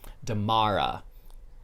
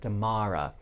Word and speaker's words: Damara: Damara. That's how you pronounce it, Damara.